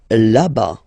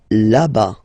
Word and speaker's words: là-bas: Là-bas. Là-bas. Remember final S not pronounced. Là-bas.